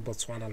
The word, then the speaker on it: Botswana: That's how I say Botswana like that. Botswana.